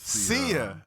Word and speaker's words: Sia: this pronunciation right okay is it sia it is see ya i always like your